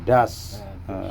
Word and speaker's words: dus: Iya, das. Jangan dus. Ini tulisannya dus. Ya. Bacanya das.